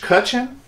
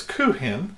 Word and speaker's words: Kuchen: en it's not peach kuchen from the south kitchen it's not peach kuchen it's coot hen let's see is silent pre-heat your oven to